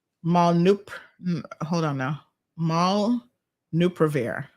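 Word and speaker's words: molnupiravir: malnup hold on now maul nuprovir i think is how it's pronounced uh so that's at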